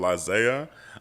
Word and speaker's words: Izayah: Okay, the name's Michael IZAYAH. It's I-ZAYAH, just to let everybody know it's not like how it's spelled in the Bible, so it's different.